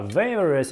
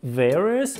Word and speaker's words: various: А various – это разнообразный. Запомнили? Отлично. Запишите various – разнообразный. Произношение непростое. Various. Там ver, потом res. Various.